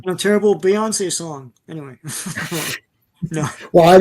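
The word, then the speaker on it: Beyoncé: Bay ones. That's how it's spelled. Yeah, I remember seeing that. Who's Bay Ones? Who the hell's Bay ones? Anyway, it's like Penelope. Bay twice? No, it's Beyonce.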